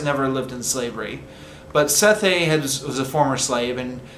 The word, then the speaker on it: Sethe: The woman is called, I think it's pronounced Sethe. It's spelled S-E-T-H-E.